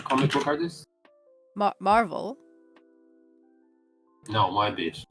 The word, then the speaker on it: Moebius: Moebius, am I pronouncing it well? The comic book artist? Marvel? No, Moebius. Moebius.